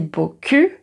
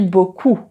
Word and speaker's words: beaucoup: Et là la faute typique, c'est merci beaucoup et merci beaucoup. Alors merci beaucoup.